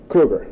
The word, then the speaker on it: Krueger: pronouncing your name correctly it's Krueger I accept both pronunciations well which one do you use Krueger okay thanks that's what I I really do use both though it's always a weird